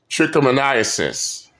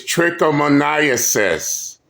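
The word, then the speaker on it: trichomoniasis: oh okay I believe the correct term is tricomoniasis yes and yes I know it's a big word but they keep they keep mispronouncing it it's tricomoniasis a big word closely related to com Comedia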